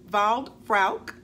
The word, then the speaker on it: Waldfrauke: I believe it is pronounced Waldfrauke, W-A-L-D-F-R-A-U-K-E, across the pond, has requested a review of the Coach Mini Faye.